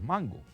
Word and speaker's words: mango: poem named that way, because it wasn"t pronounced "mangó", it was "mango" So when LIoréns waIked